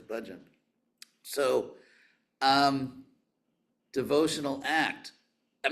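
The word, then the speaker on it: bhajan: me and who is you've heard this word often pronounced in in America as bajan which actually means a container in Sanskrit anyway the word is budgeon so um devotional act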